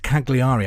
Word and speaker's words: Cagliari: It's spelt Cagliari.